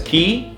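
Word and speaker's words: Quay: don't know about pronouncing the word kwai as key but that's how it's pronounced I still call it playing I call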